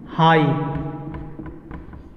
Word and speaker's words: high: लेकिन एक ट्रिक याद रखेंगे कि कोई भी इंग्लिश वर्ड में, जितने भी इंग्लिश वर्ड्स है, किसी भी वर्ड में अगर GH आता हो, यानी GH, तो GH हमेशा साइलेंट हो जाता है।